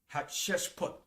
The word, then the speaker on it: Hatshepsut: Her name is spelled Hatssheput. Hatshepsut.